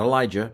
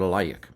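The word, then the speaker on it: עָלַיִךְ: Not Elijah, but Alayik.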